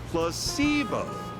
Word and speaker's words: placebo: word to our vocabulary today repeat after me Placebo H the stress is on the middle syllable very good your f in interest well